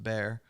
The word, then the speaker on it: Bar: he was growing up, often shortened to Bar, pronounced Bear.